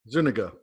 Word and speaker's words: Zuniga: how do you say say your last name Zuniga Zuniga and where's that from what's what's the